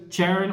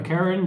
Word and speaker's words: Charon: of the encounter cards which is charon or karen depending on your way of pronouncing the card basically this bad